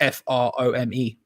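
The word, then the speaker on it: Frome: lee do you know how to pronounce the the place in the south west that's spelled f-r-o-m-e no of course not well i'd say from like squeaky from who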